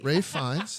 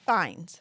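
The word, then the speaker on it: Fiennes: Ral Ralph it's it's spelled Ralph but it's pronounced r a f fines just fines okay just say Lord Voldemort that's that's what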